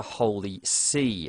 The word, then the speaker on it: Holy See: internal conflicts at the Holy See. If you don't know what the Holy See is, it's not an ocean kind of sea. It's spelled S-E-E, which is a kind of a funny name for the Popery.